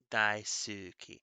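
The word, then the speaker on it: 大好き: duolingo i think uh daisuki so i pronounce it ski it uses not silent letters but it uses whispered letters so the u is in there even when i say it uh daisuki so that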